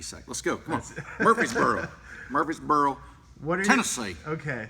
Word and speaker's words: Murfreesboro: It's pronounced Murfreesboro. Okay. So Austin from Murfreesboro.